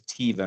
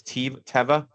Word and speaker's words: Teva: it twice earlier, but I thought it was Tiva, not Teva. So it's Teva, how you It pronounce is it? Teva, yeah. So like I thought the same thing. So yeah, it's like Teva rather than Tiva.